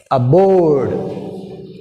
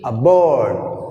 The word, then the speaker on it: aboard: Aboard. Aboard. Aboard. Board. Board. B is second part. Second syllable. B. This is A is first syllable. So this is weak prefix A. So that's why we have stress on B.